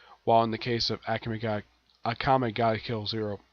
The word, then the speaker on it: Akame: While in the case of Akame ga Kill Zero, originally it's called Akame, like Akame, but it's pronounced Akame. That's how the characters pronounce their name.